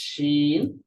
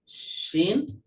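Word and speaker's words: ش: ওয়াসাতুল লিসান, জিহ্বার মধ্যখান, এই পুরোটা তো মনে করেন জিহ্বার মধ্যখান, কিন্তু মধ্যখানের শুরু ভাগ থেকে উচ্চারিত হবে জিম, বরাবর মধ্যখান থেকে শিন, আর মধ্যখানের শেষ ভাগ থেকে উচ্চারিত হবে ইয়া।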